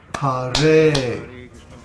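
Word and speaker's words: हरे: For example, Ha in Hare is a short syllable, but the Re is a long syllable because the vowel is A. So the word Hare is pronounced Hare.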